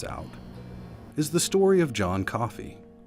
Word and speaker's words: John Coffee: But one that really stands out is the story of John Coffey, just like the drink, and spelled the same.